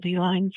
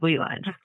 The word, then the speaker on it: Ley Lines: came up with it and what, am I pronouncing it right? Ley Lines of Love? Yeah. Or am I pronouncing it wrong? Ley Lines.